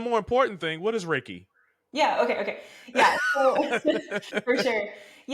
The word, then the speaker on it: Reiki: Hey, so did I pronounce, is it Reiki? Reiki, Reiki. Reiki.